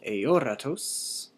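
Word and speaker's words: ἀόρατος: Notice the acute accent on o, eoratos. Kai, akaraskiuastos.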